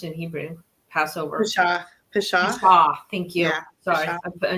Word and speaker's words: Pesach: How is it pronounced in Hebrew? Passover. Pesach.